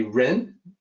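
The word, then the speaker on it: rén: Uh so, as a native English speaker, you may say Ren. That's how it kind of sounds from the way it's spelled. In Mandarin, it's a little bit different, Ren, but it's uh R E N, Ren, that's the closest we can come to.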